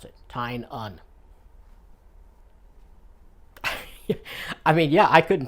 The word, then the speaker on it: Tynion: some interviews with him it's Titan it's not tinian it's not tiny and it's tying on think t-i-n-e-u-hn that's how you pronounce it tying on I mean yeah I couldn't tell by looking